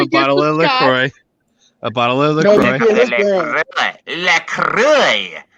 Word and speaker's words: LaCroix: It's called That's just LaCroix.